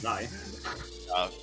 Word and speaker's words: xi: We have White Peak by Zai. That's how it's pronounced, actually. It's Zai.